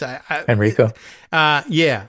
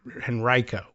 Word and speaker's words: Henrico: the county, including Richmond, the emphasis I understand is on the second syllable, but there's some dispute. I guess Henrico. Although I think the old timey natives say Henrico for some reason. Henrico. They just I don't know. This is old Southern pronunciations.